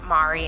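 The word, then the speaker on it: Марі: And her name would be spelt M-A-P-I in Ukrainian, but a P still makes an R sound, so her name would have been Mari instead of Marie.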